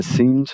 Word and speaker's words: seemed: Seemed, não pronuncio o E, vou direto do M para o D, D esse que vai dar uma conflitada com T, na hora que eu falar vai parecer que eu não falei a D, né?